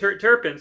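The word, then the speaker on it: terpenes: Terpins.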